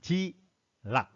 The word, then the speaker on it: G-LOC: 그래서 이것을 축약어로 뭐를 하냐면 그냥 G락, LOC라고 하는데 발음은 G락으로 하는 거예요.